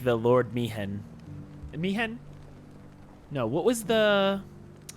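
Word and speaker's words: Maechen: Is it Mihen? How do I Google that? Old man teacher FFX? Ah, oh yeah, it is Mihen, but it's spelled like M-A-E-C-H-E-N.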